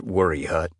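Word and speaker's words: Waya Hut: it jumping the ridge to weigh a hut, a place locals pronounced worry hut.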